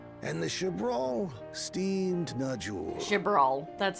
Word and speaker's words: Chibral: Chibral, that's how you pronounce it.